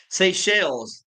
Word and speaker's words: Seychelles: Seychelles is how it's pronounced.